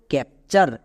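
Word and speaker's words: capture: Next TURE এর জন্য চার, তাহলে একসঙ্গে উচ্চারণ করো, ক্যাপচার।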